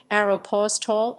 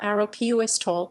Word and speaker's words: Aéropostale: hills new jersey pronunciation many different pronunciations of the brand name have developed in the united states aeropos tall arrow puis tall euro pose talai etc but according to a video posted by the company on youtube the english pronunciation is a simplified version of the french word which means french airmail service in french it's slash